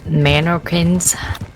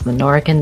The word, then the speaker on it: Menorcan: I thought they were called Manorkins. That is not what they were called. It is Menorcan.